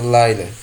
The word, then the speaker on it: Liala: Ele manteve Liala, pronunciado Laila, Biscoff sob vigilância por 2 anos, nunca reunindo a coragem para falar com ela.